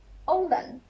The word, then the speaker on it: oğlan: Oğlan, not the stretch one, oğlan, not like that.